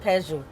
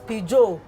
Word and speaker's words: Peugeot: Now, thankfully, our landlord had, you remember those times, it wasn't Peugeot. It was Peugeot. Yeah. It was Peugeot. That was when Peugeot, now modernization has taught us that it's pronounced Peugeot.